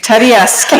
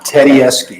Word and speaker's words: Tedeschi: If you were a speech teacher, I'd have you spell it Teddyieski. Tedeschi. That's the Okay. easiest way to pronounce it.